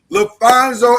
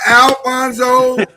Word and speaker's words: LaPhonso: The man's name is LaPhonso Ellis. It is not Alfonso. It's not spelled with an F. It is spelled with a PH.